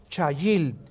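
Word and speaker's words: חַיִל: La palabra hebrea chayil. C h a y i l en el hebreo. Chayil.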